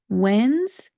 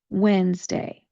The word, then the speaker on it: Wednesday: We're only going to make it 2 syllables to pronounce. When we do the first syllable, we are going to say wens. W-E-N, and then kind of a S or a slight Z sound to the word. Wens. Wednesday. Wednesday.